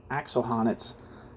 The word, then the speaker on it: Axel Honneth: Axel Honneth's, I think that's how you pronounce his name, theory of recognition expands on Habermas.